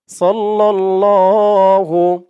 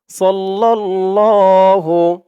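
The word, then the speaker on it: صَلَّى اللَّهُ: দেখুন অর্থগুলো দেওয়া আছে সাল্লাল্লাহু সদ দিয়ে লাম ধরবে সদ লাম জবর সদ লাম দিয়ে আবার এলাম ধরবে লাম লাম জবর লাল সাল্লাল্লাহ লাম খানা জবর ল ল এক আলিফ টান সাল্লাল্লাহু সাল্লাল্লাহু আলাইহি আ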